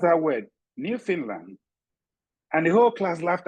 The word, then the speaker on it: Newfoundland: It is written Newfoundland, but it is pronounced Newfoundland. We can tell that because we are professional teachers.